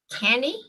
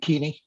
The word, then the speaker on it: Keaney: next one is kenny have i mispronounced that uh power supply manager for vermont electric cooperatives uh good afternoon it's i'm keaney uh i am the